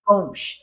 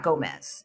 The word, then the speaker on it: Gomes: No, it's Gomes, Gomes Pinto. Oh, yeah. Pronunciations are. And it's not Gomez. It's not spelled that.